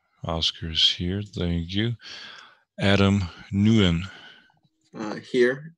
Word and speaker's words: Nguyen: Adam Nguyen. Here. It's actually pronounced Wint. Thank you. Wint? Nguyen. It's Vietnamese.